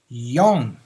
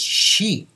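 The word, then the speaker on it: 四: Well, number four has two readings in Japanese, two pronunciations. Okay. Number one is yon, okay, yon, yon. Thus, yon no uta, yon, yon z, song is a song of four. There's more to it, okay. Number four can be pronounced as she as well. Okay? The second reading of this number is she.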